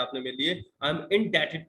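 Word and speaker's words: indebted: ये डी ई जो बीच में वर्ड दे रखा है ना, डेटेड है, डेप्टेड मत बोल देना। बी का साउंड साइलेंट होता है यहाँ पर, और क्यों होता है उसको हम आगे बात कर लेंगे।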